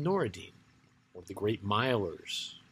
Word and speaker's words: Nur-ed-Din: And Noureddin is spelled N-U-R-ED-D-I-N. But if you met anybody of that name today, you would just call him Noureddin.